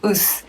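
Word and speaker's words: ッス: So in daily life, we usually say it more casually, like us. The pronunciation is somewhere between o and u.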